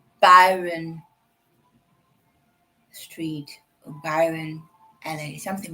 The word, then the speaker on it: Byron: Um, it's not Baron, it's Byron. Byron Dimala. Byron in English, not Baron. Byron.